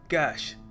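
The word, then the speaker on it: cache: इसको प्रोनाउंस करने का सही तरीका है कैश जी हां कैश लिटरली जैसे नकद कहते हैं ना कैश वैसे ही इसको प्रोनाउंस करते हैं सो आपके कंप्यूटर में कौन सी मेमोरी है कैश मेमोरी है ऑलराइट देखिए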